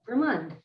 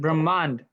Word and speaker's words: Brahmand: Brahmand. I That's said right. Brahmand. Brahman. With the N at the end or a D? D. Yeah. Brahmand. He just didn't pronounce the last A, Brahmand.